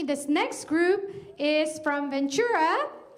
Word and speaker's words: Ventura: And just like me, this next group is from Ventura.